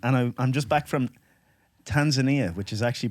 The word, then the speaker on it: Tanzania: cronin francis cronin and i'm just back from tanzania which is actually pronounced tanzania over there okay so because i'm always very